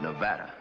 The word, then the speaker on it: Nevada: a dreadful flat a only the Dreadful flat a is correct among the natives perhaps I just thought you might like to know in case you'd go to Nevada I never expect to